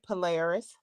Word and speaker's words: Polaris: No, you said it right, Polaris.